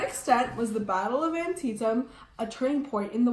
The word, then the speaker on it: Antietam: the battle Antietam and yes it's pronounced Antietam not an SI tongue or an tiene so the Battle of